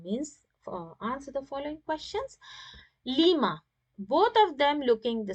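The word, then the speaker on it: لِمَ: So whenever questioning tool ma is joined with harf jar li, the alif is deleted and it becomes lima. Okay, and in pronouncing, we will use as lima, like this, lima.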